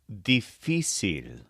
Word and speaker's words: difícil: the word for difficult is theil spelled d f i c i l with an accent mark over the middle I the so for example